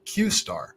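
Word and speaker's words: Q*: recent breakthrough open Aid ey discovered called Q pronounced qar that could threaten Humanity by being a first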